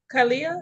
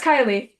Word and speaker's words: Kalia: Hey, Miss Kalia. Is that how you say your name? Yeah, it's Kylie.